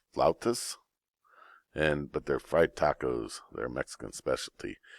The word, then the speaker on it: flautas: I believe that's pronounced flautas, but they're fried tacos.